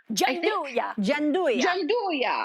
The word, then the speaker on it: Gianduja: So when I saw, help me with this pronunciation, guys. This chocolate liqueur from Bottega, it's called Gianduja. Gianduja.